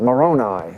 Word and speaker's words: Moroni: something and I heard the Americans they said Moroni so I realized that's how you pronounce it okay three times during the night